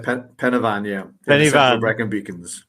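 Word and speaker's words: Pen y Fan: Is that how it's pronounced? Yeah, Pennyfan, yeah.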